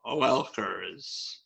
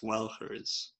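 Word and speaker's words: Oelkers: It's O-E-L-K-E-R-S. Welkers. Welkers. I think it's Welkers. Because that's usually what O-E makes.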